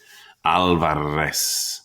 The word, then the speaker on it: Alvarez: our name to myself opening my mouth wide for the organ blast of the a trilling my tongue for the drum roll of the r alvarez how could anyone get